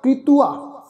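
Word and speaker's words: ਕ੍ਰਿਤੁਆ: तो उच्चारण होएगा कृतुआ। कीर्तन कली कर्म कृतुआ। कृतुआ उच्चारण करांगे। इनू कृतुआ नहीं उच्चारण करना। रारे नूं सिहारी लगा के उच्चारण करांगे कृतुआ।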